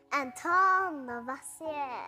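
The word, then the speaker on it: Antoine Lavoisier: That guy has a fancy name, but I think I need to pronounce it like this. It's French. Antoine Levoisier.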